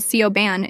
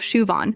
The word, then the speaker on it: Siobhan: There's Siobhan who gets called Sioban instead of Shuvon. Guan, who she pronounces like New Jen instead of Win.